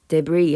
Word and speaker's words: debris: 그리고 bits of space debris 하면 여기 s 발음이 안 나고 잔해란 뜻입니다.